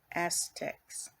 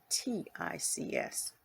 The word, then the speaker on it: ascetics: I am the life of all that lives, and I am the penitence of all Aztecs. Aztecs. I think I'm saying it right. Ascetics.